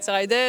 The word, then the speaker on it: Lenzerheide: Last question: how do you actually pronounce Enzerider? Really? Actually, we always say wool, if you want to make We're going to Lence, if you want to take a shortcut, but otherwise, it's Enzerider.